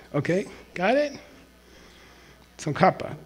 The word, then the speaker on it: Tsongkhapa: Tsongkhapa, just K. There's no reason to put KH.